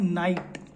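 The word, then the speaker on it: knight: इसको हम बोलते हैं नाइट तो एन आई जी एच टी नहीं है के है जैसे नॉलेज में के साइलेंट रहता है से नाइट कहते हैं जैसे आपने देखा होगा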